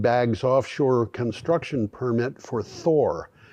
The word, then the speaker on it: Thor: offshore construction permit for Thor I'm pronouncing that in English it would probably be Tor nevertheless um it looks right to say it Thor rwe has been awarded